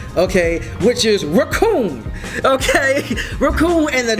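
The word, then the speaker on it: Recoome: Raccoon and the... It rhymes with Doom.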